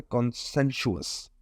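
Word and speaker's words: conscientious: अब कॉन्शियस आप लोगों ने वर्ड सुना होगा, इसी तरह से कॉन्सेंशुअस इसको इस तरीके से प्रोनाउंस करेंगे.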